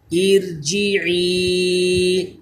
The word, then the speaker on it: ارجعی: باریک پڑھ رہے ہیں۔ ارجعی، یہ را جو ہے یہ بھی باریک پڑھا جائے گا کیونکہ اس سے پہلے زیر آ گیا۔ ارکعوا، یہ را بھی